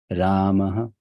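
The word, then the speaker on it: रामः: So this is pronounced as Ramaha. It's not Ramaha. No, it is Ramaha. That ha is very soft. It's like you're putting a cushion on the word, soft.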